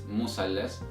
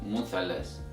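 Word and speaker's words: مثلث: So it's musallas instead of muthallas. So the bottom line here is that in Egyptian Arabic dialect, the Th sound is changed to S sound.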